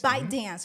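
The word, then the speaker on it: ByteDance: yeah so but it's a bite dancer you pronounce it yeah okay so bite dance yeah bite dance the collaboration with Tick Tock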